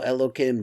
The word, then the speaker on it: Elokim: is not it is the pronunciation once again the pronunciation is elokim but the letters themselves are not the letters of hello kim because in gevorah that's